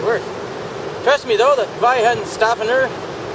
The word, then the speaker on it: Weihenstephaner: Trust me though, that Weihenstephaner, you might pronounce it Weihenstephaner, but the W is the V is in vagina.